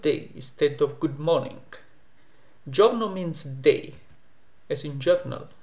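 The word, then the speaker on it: giorno: I in English but e in Italian is silent it just tells you the pronunciation of the G is Joe and not go it's not g no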